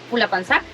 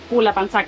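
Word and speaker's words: Pulhapanzak: consulta, ¿cómo se pronuncia el nombre de la catarata? Pula Panzac. Pula Panzac, digamos, la H no se pronuncia.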